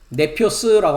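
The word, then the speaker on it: νήπιος: 어렸을 동안에는 네피오스라고 한다고 말씀드렸고요.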